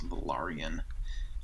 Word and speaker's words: Velaryon: It's spelled very much like Valerian, but it's Velaryon.